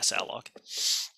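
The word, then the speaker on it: salloc: I pronounce it saloc.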